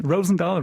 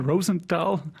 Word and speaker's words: Rosendal: shout out and greetings um to rosendahl yeah pronunciation rosenthal rosenthal the album is such a perfect mixture of